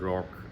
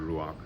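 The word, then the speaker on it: Roark: it, at the end, Howard Rock, who's the main character, some say Howard Rock, this pronounces Howard Ruach, whatever your preference is.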